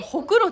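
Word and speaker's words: 黒子: 黒に子供の方でほくろって読むん。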